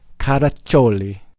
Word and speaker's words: Caraccioli: weren't live yet no we weren't live Frankie how to chole perfect spot on not everybody knows how to pronounce yeah correctly it's not anything else with